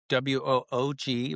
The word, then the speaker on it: Woog: Dan Woog, which is WOOG, rhymes with Vogue, and Dan I mean, I go back to 7th grade at Long Lots, middle school is that middle school?